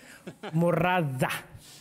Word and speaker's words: Murata: So I think the first thing in terms of knowledge is that Stefan needs to learn how to pronounce my name. Murata. Oh, Murata. But Murata is also fine.